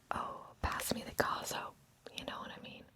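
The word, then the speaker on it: coso: It's caso. And again, it's kind of hard for me to whisper the Z, but it has like a Z sound, even though it's spelled C-O-S-O. It's caso.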